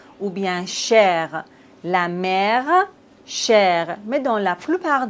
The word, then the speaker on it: mère: Mais en fait, il y a quelques exceptions, comme par exemple la mère. Ici, on doit prononcer le R. Ou bien cher, la mère, cher.